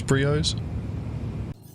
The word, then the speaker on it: Brio's: So we'll head over to Briar's Breaker Yard and see if we can counter anyone. Right, what did he say? He said Briars, he pronounced it wrong. It's Brios.